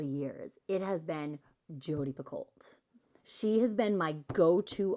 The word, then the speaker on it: Picoult: Picoult. Oh, no, it's Pico.